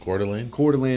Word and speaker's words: Coeur d'Alene: Coeur d'Alene, Idaho.